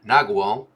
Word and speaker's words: nagual: Page 257, break down the tonal and nagual of the funk. Nagual. Let's see how that's pronounced. Nagual. Nagual. Apparently it's pronounced Nawal. Nawal.